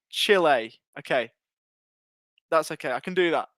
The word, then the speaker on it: Chile: so that's how i was pronouncing it at the first that's how i was pronouncing it first right or i'm pronouncing it chilly so it's chill a okay that's okay i